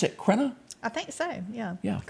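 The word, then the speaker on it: Richard Crenna: Do you pronounce it Crenna?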